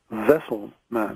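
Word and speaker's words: Wesselman: name right they said your name is actually vessel man vessel man that you're a vessel like the canoe and I'm slowly going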